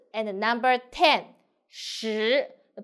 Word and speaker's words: 十: 十十 pay attention, roll tongue. 十横竖十 So you will find number 4, 四 and number 10, 十 The pronunciation is quite confused, so pay attention.